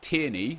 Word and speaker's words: Tierney: in the comment section going to the SPFL tierney as I know he's pronounced now Timmy's card is great that was